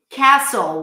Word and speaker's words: castle: Castle, why don't we pronounce the T? So the T is not always pronounced. In different situations, specifically in castle, it is not pronounced. So you can just ignore it.